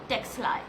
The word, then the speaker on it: Ctexli: The spelling starts with a capital c t x l i. The C is silent and that's how I call it Texi and this is the